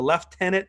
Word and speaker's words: lieutenant: the left heaven the left tenet governor that's how Canadians say lieutenant it's spelled lieutenant but the the loot the left-handed governor so it's either signed